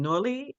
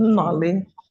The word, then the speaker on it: Noli: Last question, Noli, is that the proper pronunciation? Yes. Okay. Nolly.